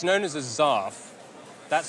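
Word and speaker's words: zarf: It is known as zaf, an unusual sounding word that comes from the Arabic word for envelope.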